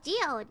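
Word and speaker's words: geode: God G is it really is it really pronounce as godod it's godod yeah godod oh it's godod oh I see okay godod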